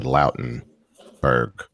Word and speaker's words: Lautenberg: There's a federal law that goes along with it, and I mispronounced it, but it's the Lautenberg Amendment.